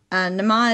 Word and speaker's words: Nema: Nama is fine to say, Nama. There's a lot of ways to pronounce the name. It's still a commonly used name, so just go by individual. Nema is how I was saying it in my head.